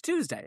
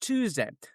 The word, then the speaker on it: Tuesday: And so therefore, it's Tuesday. It's Tuesday. I'm not trying to give it Tuesday. It's just Tuesday. The just like uh is the rent due? No, it's due.